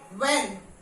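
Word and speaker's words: when: Okay, H में after W, डब्ल्यू के बाद जब भी एच हुआ है तो वहां पे एच साइलेंट है। What, okay, here it is silent. What, व्हेन, वाई, गॉट इट।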